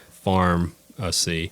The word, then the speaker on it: Farmacy: spell it in the traditional way but we spell it uh f a r m a c y Farm see in other words showing that food is medicine